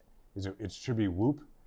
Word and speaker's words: Whoop: it's it should be whoop whoop yeah I guess it rhymes with a loop yeah I'll do my